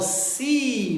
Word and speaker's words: see: E olha que coisa bacana que acontece em inglês. Quando eu falo see, você também pode pensar no mar, aquela coisa bonita da praia. E sim, de fato, mar. E o verbo ver, eles têm a mesma pronúncia. See, embora são palavras com escritas diferentes, eles têm uma mesma pronúncia. Dizemos que são palavras homófonas. Se escreve diferente, mas se pronuncia do mesmo jeito.